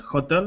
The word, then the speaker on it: hotel: the H or not Hotel no Hotel you do pronounce the h yes but the stress is on the second syllable yeah hotel but Che